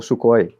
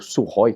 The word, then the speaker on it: Sukhoi: o o Su-27, né, o Sukhoi, ou Sukhoi, como se fala, 27, ah, tinha o o Eurofighter, na época, que é um outro avião da Europa ali também.